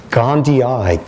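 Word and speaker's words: gondii: even pronounced differently okay how are you pronouncing it these days gandii Gandhi because there's two eyes at the end which the old Mahatma never quite came up with but this parasite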